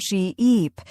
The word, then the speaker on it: sheep: Say sheep and stretch the e sound sheep. Then say ship with a short sound ship.